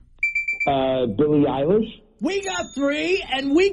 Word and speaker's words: Eilish: Her last name rhymes with Irish. Billie Eilish.